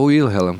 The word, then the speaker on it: Wilhelm: As pessoas falam William como tu falaste primeiro, né? Mas o meu avô falava Wilhelm, como tu falaste na segunda pronúncia ali.